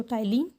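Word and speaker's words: ptyalin: Enzyme वहाँ पे starch होता है, माइलस, टाइलिन, पी साइलेंट, सो टाइलिन वहाँ पे प्रेजेंट होते हैं।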